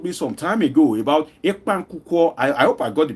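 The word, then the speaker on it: ekpang nkukwo: So I remember that of the Akwa Ibom food, ekpan kuko. I hope I got the pronunciation correct.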